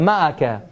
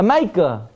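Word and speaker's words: מעקה: Or if you want to sound yeshivish, how do you say it? A maika. A maika, right? I don't know where the yud comes from, but that's how you say it if you want to sound like, you want to sound like a lamdin. Also like an amaretz, but it's ma'aka, yeah?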